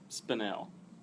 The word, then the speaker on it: spinel: Spinel. Spinel? Yeah. Yeah. Or And then you look at the way it's spelled, it looks like spinal.